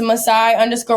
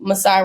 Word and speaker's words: Masai: it amen I love it I love it Messiah as said this has just been the biggest